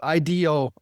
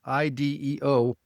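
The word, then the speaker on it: IDEO: You know, it's what goes back to when we've talked about IDO, IDO, it's pronounced the same way, which is an industrial design firm.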